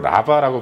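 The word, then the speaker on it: רבה: 세상에 가득했다고 할 때이 가득함이라는 단어는 히브리어로 라바라고 발음하는데 너무 많다라는 의미와 더불어서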